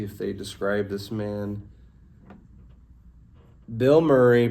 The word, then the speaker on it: Bilmuri: Bill Murray pronounced exactly like the actor Bill Murray wasn't sure about that